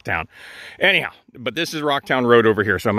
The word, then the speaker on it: Rauchtown: Metropolis of rocktown PA it's not spelled r o c k it's spelled r a u h with the if I just saying the word r a I would say Ral but we don't call it R town we call it Rock